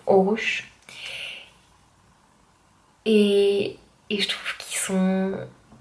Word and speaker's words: Aarhus: En tout cas, les gens que je vois ici dans la ville dans laquelle je suis, qui s'appelle Aarhus, qui se prononce Aarhus.